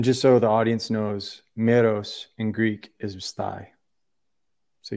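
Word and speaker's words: μηρός: So it'd be like Meros.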